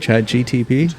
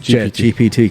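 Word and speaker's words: ChatGPT: Um did I say it right? Chad GTP. JPT. Chat GPT. Cuz Andrea keeps calling me out saying it wrong. Eh, she's like, "You said it wrong like three times in your podcast last week." I was like, "Whoops." Andrea, he said GPT. We're we're landing on GPT.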